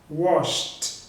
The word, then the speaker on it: washed: Então esse verbo com a terminação de SH não tem vibração também, wash. Então eu vou pronunciar o ed com som de T. Então vai ficar assim, olha, washed, washed.